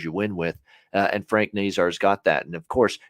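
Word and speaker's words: Nazar: physical element to them frank nasar uh they really like that's how you pronounce it by the way frank nasar's uh definitely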